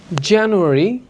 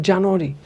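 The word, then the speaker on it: January: জানুয়ারি, জানুয়ারি, জানুয়ারি, নট জানুয়ারি, February, March, March, জানুয়ারি, February, March, April, April, May, May, June, June, July, July, July, September.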